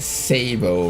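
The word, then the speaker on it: sabot: Okay, I'll pronounce it the French way. The wrong way. The Sabo rocket.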